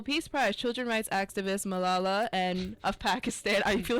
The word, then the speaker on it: Malala: Children's rights activist Malala and of Pakistan. I feel like I'm pronouncing her name so wrong.